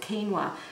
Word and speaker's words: quinoa: last product I want to show you is quinoa and it's spelt with a cube but you actually pronounce it quinoa and this is the beautiful red quinoa it's a gorgeous little grain and again you